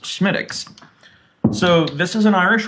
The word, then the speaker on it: Smithwick's: But it is a Gaelic pronunciation, and it is pronounced Smittix.